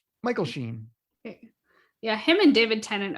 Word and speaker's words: Sheen: And Michael Sheehan, as I can't pronounce the angel's name, was inspired casting. He was brilliant. I mispronounced his name. Sheen. I think it's Sheen. Michael Sheen.